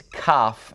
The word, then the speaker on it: kaf: Now, if you remove the dot from this one, you also change the way that it sounds. Because if you remove the dot, then it sounds like het. And Kaf will make a that hard H sound when you remove the dot. But when you have the dot, it's Kaf and makes a K sound.